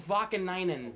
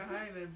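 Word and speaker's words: Vaakanainen: That's not even close to being right. Urho Vakanainen. We're both in the line. Why is he on the Rangers? Vakahainen's how I used to pronounce it.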